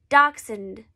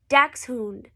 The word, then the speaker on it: Dachshund: Actually pronounced Dachshund. If you want to say it the traditional German way, you would say Dachshund.